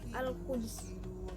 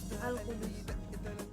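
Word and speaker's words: القدس: Nah, amun menurut Imam Ibnu Katsir, bacaan qiraat ada di dalam kata Al-Qudus nih, huruf dalnya tuh dibaca sukun. Jadi dibacanya jadi Al-Qudus. Itu memantul dalnya. Nah, amun bacaan qiraat menurut imam yang lain, huruf dal yang ada di dalam kata Al-Qudus ini dibaca dhammah. Nah, jadi cara bacanya Al-Qudus.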